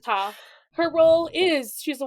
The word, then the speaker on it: Ptah: I would just not pronounce the P. Yeah, you're not supposed to pronounce the P. But, like, it's just funny. My brain wants to go, Ptah, but it's just Ta.